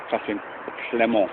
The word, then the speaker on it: Catherine Clément: by a really interesting writer, Catherine Clément, I think it's pronounced, it's French, who again talks about this sort of oceanic feeling, this sense of being dissolved into something larger.